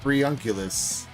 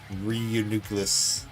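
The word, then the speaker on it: Reuniclus: I've always called it Reunculus. I mean, I've always called it Reunculus because I'm pretty sure that's wrong. I'm pretty sure it's like Reunucleus, like nucleus of a cell.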